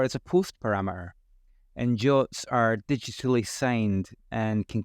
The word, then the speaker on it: JWT: next time we'll see work with Clerk this is what we'll cover we'll introduce Jason Webb tokens abbreviated as JWT but pronounced jot I'll show examples of